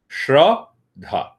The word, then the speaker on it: Shraddha: The word Shraddha in English means faith. It has 2 syllables. Shraddha.